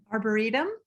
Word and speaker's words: arboretum: me pronounce the word i'm so bad at pronouncing uh english words arboretum oh thank you a burrito share a picture